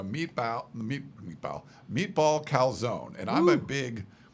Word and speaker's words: calzone: lot, but this meatball calzone looks really good. Um they tell you how to pronounce it. Calzone. Italian speakers say.